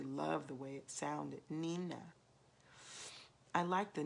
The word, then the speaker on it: Nina: had christened me Nina, pronounced it Nina, which was the Spanish word for little one. Chico had called me that all the time, and I really loved the way it sounded, Nina.